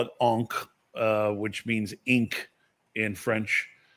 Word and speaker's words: encre: And I call it encre, which means ink in French. I can never pronounce it correctly, but you have to eat the C and the R.